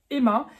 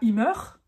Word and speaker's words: immer: toujours d'accord toujours Emma et tu remarques dans ma prononciation comme j'exlique souvent dans mes vidéos le er en fin de mot sonne presque comme un a donc on ne dit pas il Meur ça ça ferait très français c'est ça qui caractérise